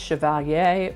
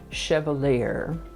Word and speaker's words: chevalier: It can be pronounced chevalier or chevalier.